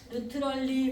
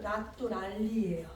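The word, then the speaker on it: naturali: 네, 요거를 루트럴, 네, 루트럴리 뭐 이런 거 말씀하시잖아요. 이탈리아의 내추럴을 이탈리아는 나뚜랄리예요.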